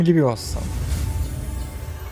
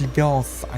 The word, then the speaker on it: Levioso: Отрабатываем левиоса. Правильно говорить левиос, а не левиоса.